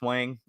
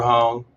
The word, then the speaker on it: Huang: How do you pronounce his name? Andrew Huang? Wang? It's Andrew Hong. Hong? Okay, Yeah.